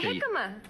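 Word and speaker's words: jícama: And jicama. Yeah, well, yes. No, jicama, I'm not... It's spelt with a J. Okay. It looks like jicama, but...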